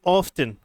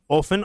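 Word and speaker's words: often: इट ऑफ्टन, ऑफन और ऑफ्टन दोनों pronunciation इसकी ठीक होती हैं, इसमें से किसी को भी गलत मत समझना, डिफरेंट डिफरेंट कंट्रीज के अकॉर्डिंग होती हैं।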